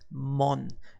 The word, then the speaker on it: 門: talking about the gate which is mon and this is easy to remember because we have two gate that like I said itself usually placed in front of the Shinto shrine and who's who else is with the shrine usually a monk toss mon gate mon to the right side we